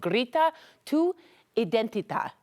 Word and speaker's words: Grita Tu Identidad: event we want to introduce you to called Grita Tu Idenita.